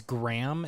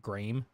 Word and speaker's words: Graeme: It's Paul and um is it's it's Graham is I it's like how it's pronounced, but it's like Graeme. Graeme.